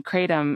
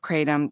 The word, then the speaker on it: kratom: Kratom has several pronunciations too, so I'm going to hit that at the outset here. So it's called Kratom in Southeast Asia, specifically in Thailand, Kratom or Kratom, and most of the